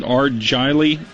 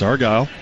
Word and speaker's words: Argyle: Well, one of the uh one of the school districts out in the sticks, Argyle, is that the way you pronounce it? Argily. It's Argyle. Argal Independent School District.